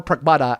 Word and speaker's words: Pragmata: Fam, go watch the trailer for Pragmata and immediately go in with the and and like which one?